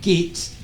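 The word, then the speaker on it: Geidt: boris johnson demanding that lord gates i don't know how that's pronounced it's spelt g-e-i-d-t uh so i do forgive the pronunciation if that's wrong and the advisor on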